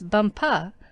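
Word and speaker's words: Bumpah: there as the Crown Princess bumpa you accent the last syllable and tell me did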